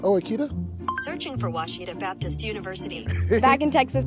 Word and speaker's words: Ouachita: people say OA oh a Oita is it pronounced Oita searching for wasita Baptist University back in Texas everybody pronounces it Witchita but really it's was wash was how would